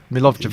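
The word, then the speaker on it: Milivojević: Milovic.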